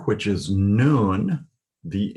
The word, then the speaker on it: Nun: The N sound in Nun is pronounced as now.